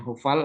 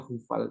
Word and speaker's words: hofal: Jadi binyan hofal atau hufal juga. Nah, itu orang baca itu pasti bacanya H.